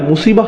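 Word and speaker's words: مصيبة: এরপর আবার শব্দটি শেষে রয়েছে তা মারবুতা, যে জন্য আমরা মুসিবাহ উচ্চারণ করি, মুসিব না কিন্তু।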